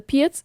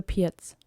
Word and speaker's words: Pirc: The Pirc is easy in that matter, that you have a few setups that are similar against multiple white responses.